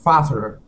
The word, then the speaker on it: faster: uh so I said faster yes yeah you didn't pronounce that t here we want to pronounce that t saying faster faster excellent nice job okay